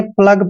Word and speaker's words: plough: आपको देखना पड़ेगा कि जब भी ओ यू जी एच ये चारों लेटर इकट्ठे आते हैं तो यहाँ पर एक बात का आपने ध्यान रखना है, ओ यू यहाँ पर साइलेंट रहेंगे, ठीक है। तो इसको हमने प्लग पढ़ना है।